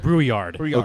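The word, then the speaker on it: Brouillard: going to fall in love with is Nicholas brewyard brewyard brard brard b r o u i l l a r d but it's pronounced brewyard thank God I know all the pronunciation what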